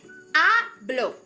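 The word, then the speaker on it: hablo: Did you remember that that H is sh silent? We write it but we don't say it right.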